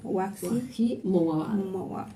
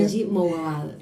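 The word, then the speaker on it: Wajdi Mouawad: voy a pronunciar bien, Wahi Mouawad. Sí, difícil. Me decía Betty, ella lo dice perfecto. No. Dice. Es difícil decir Wahi porque no se sabe, hay una J, una claro. Wahi Mouawad.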